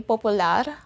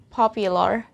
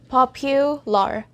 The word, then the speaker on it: popular: popular one more time popular imagine that there's letter y between p and u so make that sound pop pew popular popular i want to